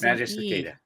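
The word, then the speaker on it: Magicicada: mag Maggie cic magic like think magic magic cicada but it's magic cada magic cicada okay a g i okay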